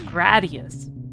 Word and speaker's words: Gradius: Like it has to be emphasized that Gradius does not rhyme with Gladius. Unless you just count the ES part. I know a lot of people will tend to call it Gradius because of uh Gladius, but no, it's Gradius.